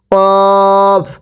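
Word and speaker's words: ق: এরপরে কফ। কফটা উচ্চারণের সময় গলার মধ্যে হালকা একটু ধাক্কা হবে। পড়ুন কফ।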